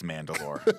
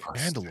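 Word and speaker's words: Mandylor: Mandalore and he's Greek Mandalore sick I might be mess pronouncing it's m a n d y l o r but we'll go Mand like the Mandalorian I agree with you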